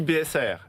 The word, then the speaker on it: BSA-AIR: On dit BSAR, R comme accord d'investissement rapide.